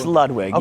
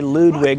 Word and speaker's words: Ludwig: It's Lwig. You always say Ludwig like he's doing porn or something.